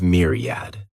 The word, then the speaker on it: myriad: The next noun is myriad. This word has 3 syllables, and the stress is on that first syllable. Mere sounds like mere.